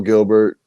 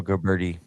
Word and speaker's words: Gilberti: Joe Gilbert 2024. Joe Gilberti. Gilberti, excuse me. Joe Gilberti 2024. I knew I wasn't saying it right.